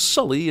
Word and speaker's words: Sully: Jake why does she pronounce his name as suly when she just heard him say it was Sully and she hasn't ever